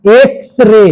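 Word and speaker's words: X-ray: अच्छा एक्स रे इसमें क्या लगेगा? काहे? उच्चारण एक्स एक्स बोलते हैं तो एक स यानी कि एक ए से शुरू हुआ।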